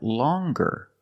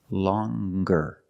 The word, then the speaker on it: longer: sound long but then you have longer where we have the hard G sound longer with a nasal sound plus the hard G longer and we have the